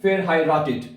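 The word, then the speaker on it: verheiratet: pronounce कर पाते तो इसको इस तरह देखें पहले आपने पढ़ना है फेर हाई रेटेड फिर उसको तोड़ लिया करें फिर कट्ठा पढ़ लिया कर रहे हैं फिर हाई रेटेड इश्क बीन फेर हाई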